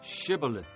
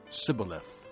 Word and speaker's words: shibboleth: they said all right say shibboleth if he said sybileth because he could not pronounce the word correctly they seized him and